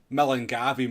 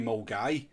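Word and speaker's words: Milngavie: I mean, it's nearly as stupid as people calling Millengavi Mulgai. It was clearly Millengavi. I mean, clearly it is spelt Millengavi.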